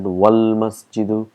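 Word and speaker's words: والمسجد: Wal masjidu, if you see here, it's hamzatul wasl, so we've got to put all our knowledge here. That's why we pronounce it wal masjidu ba'idun, and all we have, and that's a huruful qamar.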